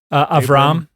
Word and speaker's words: Abram: Lot is traveling with Abram at that time. Is that how you would say it? Abram? Avram.